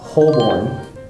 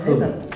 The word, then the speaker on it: Holborn: This would be called Holborn. If I were to Did you read say it. Holborn? Holborn. Okay. Completely wrong. Holborn. Holborn. One more time, sorry. Holborn. Holborn. Holborn.